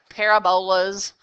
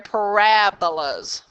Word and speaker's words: parabolas: are called parabolas yeah I know it kind of sounds like parabola z' but you're actually emphasizing that middle syllable they're parabolas okay and they have